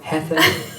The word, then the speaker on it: Heather: I like to say ether. Heather. Like the feather like and the ether.